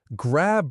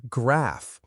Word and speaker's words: grab: Grab, make the b sound clear. Grab breakfast, not grap.